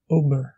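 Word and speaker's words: obair: Le O, bref, se prononce comme le O français, comme dans le mot ober, qui signifie travailler.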